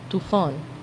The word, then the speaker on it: طوفان: طوفان، طوفان. الطاء بتنطق تاء في اللغة الفارسية.